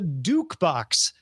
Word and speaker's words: DukeBox: last week or so the dukebox rhymes with jukebox it's a smart speaker